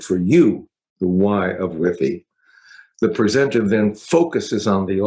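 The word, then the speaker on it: WIIFY: talk about Whiffy, and it's nothing to do with Wi-Fi, right? Whiffy.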